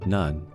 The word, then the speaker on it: n0ne: His gamer tag nun is also related to one of those rules. It's pronounced nun, but its meaning is no me.